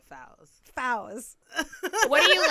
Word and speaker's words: Fawziyya: Fawziyyah. Fowz. Oh my god, I'm so sorry. Fowz. Yeah. Fowz. I got that. You don't actually have to say it. Most I people wanna just say- say. I want to say it right. I try. Everybody says. I know it's your identity. Everybody says Yeah. I But try- just my two close. friends say Fowls. Fowz. Yeah, Fowls.